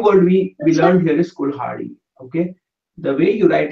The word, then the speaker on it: kulhadi: a d with e, kulhadi. And as I said, you can really pronounce it as like a cool, and then ha, and then d. Okay, kulhadi.